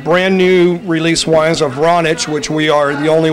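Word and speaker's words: Vranac: It's pronounced Vranich. Vranich.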